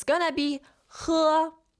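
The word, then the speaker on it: 喝: It's going to be he. With your throat, guys. He from your throat.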